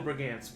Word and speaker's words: Brigance: for like I'm cold gants rhymes with pants amazing see I don't want to get it wrong though so Brigance playing uh Zachariah Williams